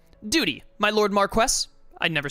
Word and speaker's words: Marquess: Duty my Lord Marquess I'd never say this word right I don't think you pronounce the S do you it's like Mark White now whatever I'm not